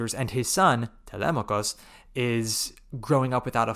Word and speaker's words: Telemachus: So that's how I don't know how to say Telemachus in any other way now but the ancient Greek pronunciation, Telemachus.